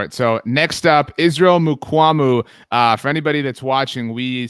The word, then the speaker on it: Mukuamu: Mukuamu. I always added an extra A, I guess, in there, Mukuamu. But Mukuamu, I liked him a lot.